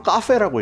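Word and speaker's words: Coffey: 개는 수입되는게 아니야 아까 코페 연속식 증류기를 1999년에 니시노미야 공장에서 미야기쿄 증류소로 옮겨 그래서 지금 이거는 미야기쿄 증류소에서 만들고 있는 거야 이게 읽는 방법이 되게 다양해 일본에서 카페라고 읽어 그래서 나는 처음에 카페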